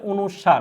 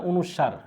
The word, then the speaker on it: অনুস্বার: অর্থাৎ নাসিক্য ব্যঞ্জন ধ্বনি হচ্ছে 7টি টোটালে, আর এটার উচ্চারণটা হবে হচ্ছে অনুস্বার। হ্যাঁ, অনুস্বার।